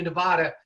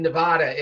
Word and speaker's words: Nevada: in elections here you referred several times to nevada it's very important for politicians to say nevada uh and and so the pronunciation here as a matter of fact i